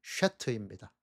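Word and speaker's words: שֵׁת: 셋은 히브리어 원어 발음이 쉐트입니다.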